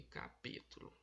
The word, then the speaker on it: capítulo: aqui ônibus, mágico e capítulo. Capítulo. O pi, a palavra capítulo são 4 sílabas. O ló é a última, o tu é a penúltima e o pi é a antepenúltima, ou seja, capítulo.